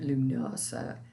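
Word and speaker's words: Lughnasa: spelled l-u-g-h-n-a-s-a now um some people say lunosa but that's a little complicated for me because i'm a southerner so i'm just going to say lunasa and then the full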